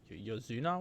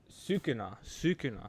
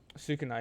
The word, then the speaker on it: Sukuna: Yozuna?